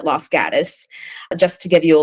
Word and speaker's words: Los Gatos: Uh, or Los Gatos is how you would pronounce it in Spanish, but everybody there calls it Los Gatus.